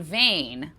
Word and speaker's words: Veen: Tongue by Joanna von Vain. I learned thank you to Esme for letting me know the Dutch pronunciation there is uh vein is actually like vain, more like vain.